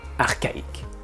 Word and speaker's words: archaïque: Ben oui, le même CH qui fait un ch dans le mot chat fait un K dans archaïque.